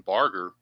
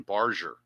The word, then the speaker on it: Barger: I've been calling him Addison Barger. It's actually the G is actually soft. It's Addis. Add Addison Barger is how the announcers gave his name. So, his name is Barger. That is his name. Barger.